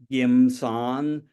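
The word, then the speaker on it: 金山: of you probably know, the Cantonese word for America is gum san, or in my dialect, gim san, gold mountain.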